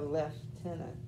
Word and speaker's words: lieutenant: that was what the left tenant was supposed to predict um i love if you look into the history of words they're fascinating but i kept hearing lieutenant why do they always say that um that those are